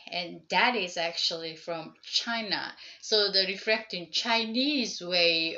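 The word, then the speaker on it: 氣: So that's what the idea, and it's basically sharing the same character pronounced as an ki or chi, that is as an tomato or tomato.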